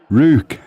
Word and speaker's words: Ruch: So it says it should be Rue with a KH on the end, with a soft, throaty KH at the end. Ruch.